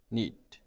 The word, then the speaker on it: knead: एंड KNEAD, नीड.